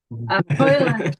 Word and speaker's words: Højlund: I can't pronounce that properly. Højlund, get it right, Hazel.